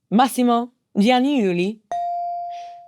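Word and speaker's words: Massimo Giannulli: Massimo Gianniuli.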